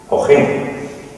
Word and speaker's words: Ojén: Henry, el reconocido escritor norteamericano, firmaba O.HEN, Ojén, que es como se pronunciaba, con lo que quería hacerle un homenaje a vuestro aguardiente, a nuestro aguardiente.